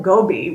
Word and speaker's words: Gobi: Mongolia and visit the Gobi Desert. Now, if you call it Gobi, which I always did as well, I've learned that the proper pronunciation is Gobi.